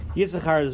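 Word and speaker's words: יששכר: Well, the second sin, unpronounced Yisachar, is always interesting, but it's not any more interesting in this mentioning of Yisachar than any others.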